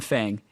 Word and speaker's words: Fang: His teammates call him Fang. It's spelt Fang. Why are we calling him Fung?